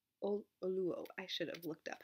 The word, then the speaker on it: Oluo: Kendi and So You Want to Talk About Race by Ijeoma Oluwo. Oluo. I should have looked up how to pronounce her name.